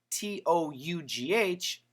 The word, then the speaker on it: tough: And t o u g h. Tough. Tough. Now actually tough also has the short u sound.